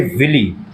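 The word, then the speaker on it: villi: इसको मैं विलाई बोल दूं। विली बोल दूं। स्पेलिंग याद रखो। वी I double L आई। कुछ लोग इसको स्पेलिंग याद करने के लिए विली बोलते हैं। कुछ लोग विलाई बोलते हैं।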